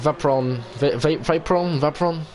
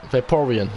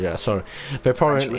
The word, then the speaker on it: Vaporeon: And we have Vapron in the pit as a Vaporeon, I should say. That's how I pronounce it. Sorry, Vaporeon in the pit lane.